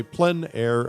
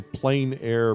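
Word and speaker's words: plein air: that essentially means outside the French say plen air others say plain air but no matter how you say it there's a huge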